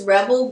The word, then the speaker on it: Rwebel: It's Rebel, but it has a W in it because we want to be unique.